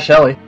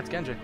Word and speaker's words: Genji: someone say my name no it's like genji not shelley yeah genji why must you make